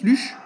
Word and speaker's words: Luchs: lche ouais c'est comme ça que ça se prononce luchche ouais ouais le lux oui aussi ouais le LCH bon on va